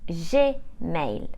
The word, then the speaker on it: Gmail: the number a now in French Gmail is pronounced je male and Hotmail is pronounced at mail KO is